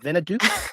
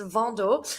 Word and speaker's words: Vendôme: Venaduke? Venaduke? How do you pronounce it? It's a term that he's It's Vena it's very French pronounced. It's Vendôme. Bonjour.